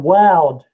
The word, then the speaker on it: Wowd: That was a company called Woud. Google acquired them in 2011. Wild, Yeah. like wild Started doing hummingbird too then, right? It was supposed to rhyme with crowd. It was WOWD.